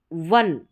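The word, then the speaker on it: one: और देखिए यहां पर वन वन रहेगा ना यहां पर ओ देखिए यह यू नहीं है यहां पर ओ है अब यह सभी में नहीं है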